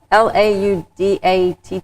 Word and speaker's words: Laudate: I always want to make sure I pronounce it correctly. Is it Laudate or Laudatte? Laudatte?